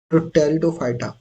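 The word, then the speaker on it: Pteridophyta: याद रखना आप दोस्तों टेरिडोफाइटा सबसे पहला ग्रुप इस प साइलेंट रहता है इसलिए इसको टेटो फाइटा पढ़ते है इसका नाम है जिमो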